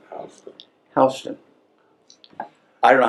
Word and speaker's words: Houston: York City that spelled Houston but it's not pronounced Houston H hon I don't know how they get hon out